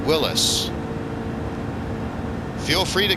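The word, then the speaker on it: Willys: I think the company despite being spelled Willies w-i-l-l-y-s who's actually supposed to be pronounced Willis feel free to correct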